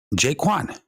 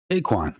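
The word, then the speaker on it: Jae Kwon: Cosmos, Atom, the developers, Jaquan. Kind of rhymes with Doquan, right? Jaquan. Not Jaquan, particularly.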